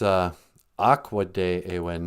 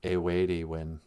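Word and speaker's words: aakode'ewin: It's Akwade e win, not a weighty win.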